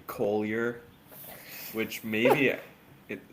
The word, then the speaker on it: Collier: my last name gets mispronounced sometimes. Collier. Collier. It's not It's Collier. I'm an American. Not I'm not French.